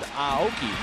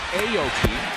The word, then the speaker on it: Aoki: to be called norichika his last name is pronounced aoki not aoki as we've been butchering it all these years here in the states